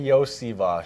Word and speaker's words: Iosivas: Yeah, it's Andrei Iosivas. Iosivas. So, some people know me as Yoshi, but the SH part comes at the end of my name, actually.